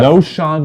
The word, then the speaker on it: Knowshon: I have No Sean Moreno. Ooh, that is. I will spell it Know. No Sean Moreno. It's Knowshon Moreno.